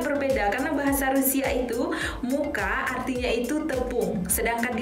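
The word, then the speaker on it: мука: Kata-kata ketiga itu ada muka. Muka the pronunciation is right. Jadi cara pengucapannya itu muka seperti bahasa Indonesia yang artinya wajah.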